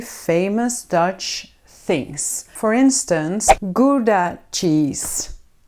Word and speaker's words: Gouda: For instance "Gouda" cheese. "Goeda"??? No we pronounce it as "GOUDA".